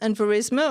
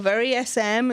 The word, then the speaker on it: VeriSM: And Verisma or VerySM, it depends on, I've heard it pronounced both ways by the examining board actually, so so we don't mind what you call it.